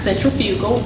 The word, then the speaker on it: centrifugal: Centrifugal or centrifugal, it's pronounced both ways.